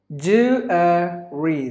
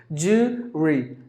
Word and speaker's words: jewellery: And the last word is jewellery. There are actually 3 syllables in this word. Usually the ESL speakers pronounce it with just 2 syllables. Jewelry. No. Jewellery.